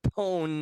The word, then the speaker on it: pwn: Anyway, so PWN is like pun. Speaking of pone orang, what's the next clip?